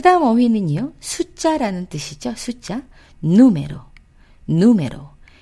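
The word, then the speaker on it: número: 이것 또한 한번 보시면 오로 끝났죠. 오로 끝나서 맨 뒤에서 두 번째는 어떻게 돼요? 에가 되겠죠. 그래서 원래는 누메로겠죠. 누메로. 누메로. 이상하네요. 이렇게 읽으니까요. 누메로인데 예외입니다 라고 해서 이거는 맨 앞에 우에 아센토를 찍어서 이 부분을 올려주세요 라고 부탁을 하는 거죠. 자, 그래서 누메로.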